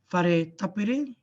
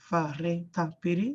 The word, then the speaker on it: whare tapere: So the WH is pronounced as F, and the NG is pronounced as Ng. F and Ng.